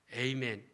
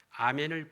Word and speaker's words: 아멘: 우리 한국이나 일본에서는 히브리어 발음 그대로 아멘 하는데 저 미국이나 캐나다에서는요 영어 발음으로 바꾸어서 에이멘 하기도 합니다. 각 나라마다 필요에 따라서 아멘을 번역하거나 번역하지 않았습니다.